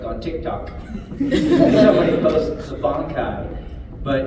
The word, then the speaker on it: bankai: Somebody posts a bankai, but it's because the Japanese goes bankai, right? Mm-hmm. But the animation goes bunkai, right? Okay. So I had to do bunkai to fill it in, and they're like, but